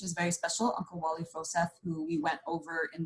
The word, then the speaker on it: Froseth: So the name is Froseth, right? Forsyth, I mean, there's another name out there spelled a little bit differently, and people pronounce it Forsyth, but it's actually Froseth, F-R-O versus F-O-R.